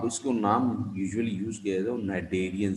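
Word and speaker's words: Cnidaria: नाम usually use किया Darien सी silent है डेरिया पढ़ा जा नाइट नीडल लाइक इसका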